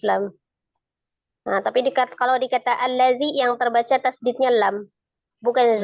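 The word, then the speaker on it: الذي: Jadi tidak berubah dia langsung zal ditasdidkan atau lam disukunkan dikata allazi tetap di allazi ya. Alazi ya, alazina. Ya, jadi khusus dikata allazi alif lamnya alif lam lazimah gitu.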